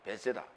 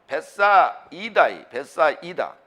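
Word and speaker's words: Βηθσαϊδά: 베세다라고 하는 단어는 베사이다. 베세다가 아니라 베사이다를 한국어식으로 이중모음을 쓰게 되면 베세다가 돼요. 그러나 그렇게 발음하지 말라고 베사이다로 발음하라고 이오타 위에다 점 2개 빵빵 찍어놨어요.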